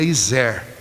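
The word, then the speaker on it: עזר: hebraica a primeira é a pronúncia em hebraico seria e zé ea segunda que negredo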